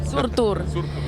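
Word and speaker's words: Surtur: last album the latest came out this year surur Rising how do you pronounce that perfect surur and surur is a fire giant who sets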